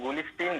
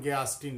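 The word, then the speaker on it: Garstin: Sir George गुलिस्टीन करके, sir exact pronounce नहीं कर पा रहा हूँ, जॉर्ज गुलिस्टीन सर करके सर नाम था। जॉन गयास्टीन नाम था उनका।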